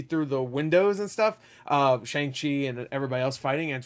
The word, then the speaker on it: Shang-Chi: Shang-Chi and everybody else fighting, and it's really, really well done. I said Shang-Chi. Should have said Shang-Chi.